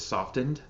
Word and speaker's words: softened: to me feels uh softened actually the proper way to pronounce that word is softened by the way but I